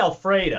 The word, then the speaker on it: Elfrida: you guys find out about this woman named Elfrida Francis? How do you pronounce her last name? Bukowski. Bukowski. What an man! That is a name and a half. I've never. Elfrida. I think it's Alfreda.